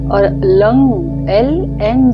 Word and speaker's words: लं: हमें पृथ्वी तत्व पर ध्यान करना है और lung L एन G lung शब्द का मंत्र का उच्चारण बजाकर मंत्र का उच्चारण करना है और